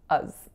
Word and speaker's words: as: So you'll hear that it's very significantly reducing. That's not necessarily going to be the case every time you hear this expression, but it will be a lot of the time because as is not an important word in this phrase, so we can change the a to a schwa, as.